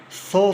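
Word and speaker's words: psoas: in science the 50s saw sign P is silent what is so sign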